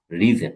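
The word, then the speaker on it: risen: আর রাইজ intransitive verb, রোজ রিজন। এটার উচ্চারণ কিন্তু রাইজেন না, এটার উচ্চারণ কিন্তু রিজন, রিজন। রাইজেন আপনারা আবার বললেন না, রিজন, রিজন। হ্যাঁ, রাইজেন না।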